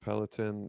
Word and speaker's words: peloton: the entire what uh i think it's pronounced peliton it's like the name